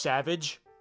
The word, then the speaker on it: Savage: even do that impression savage or press uh his name is just Savage and they just pronounce it in a fancy way Savage Darth Maul's brother who